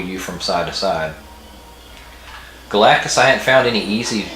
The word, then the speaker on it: Galactus: Galactus.